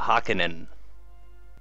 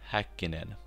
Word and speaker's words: Häkkinen: this episear pronce Häkkinen First of all let Listen to Example of How an American would say his name Mikä hakenen and here how you should say it Mika Häkkinen of course the only